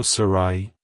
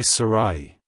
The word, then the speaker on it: Sarahi: second syllable ra and use a soft H sound at the end avoid pronouncing it as Sarah with an e at the end like hello Sarai goodbye Sarai if you found the